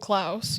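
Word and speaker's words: Klaus: Um, it's just called, um, it's called Clouse, but it's spelled with a K.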